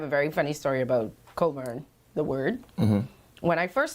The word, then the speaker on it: Cockburn: know Cockburn is spelled C-O-C-K-B-U-R-N. And I didn't know that C-O-C-K-B-U-R-N was Cockburn. The CK is silent.